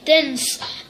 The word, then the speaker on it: DNCE: And the 9th one in the charts is Cake by the Ocean by Dance, pronounced DNCE.